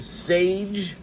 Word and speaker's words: Saje: it is okay so this is pronounced Sage nine so I have